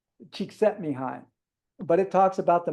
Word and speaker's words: Csikszentmihalyi: It's really hard to pronounce. Csikszentmihalyi.